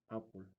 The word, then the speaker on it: Apple: sabes quién soy Soy apul pronunciado como manzana en inglés el cadilac arrancó y